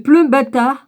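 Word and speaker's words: plumbatae: Le pleumbata, on ne doit pas prononcer le E qu'au bout, là, au bout de lanière.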